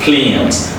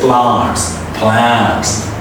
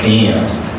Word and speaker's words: plans: Look, imagine like how sweet it sounds, like plans. Don't say plants. No, it's a plans. Living, because the final G is an important this word, so we pronounce it as living.